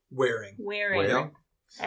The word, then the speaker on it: Waring: Waring? Wearing.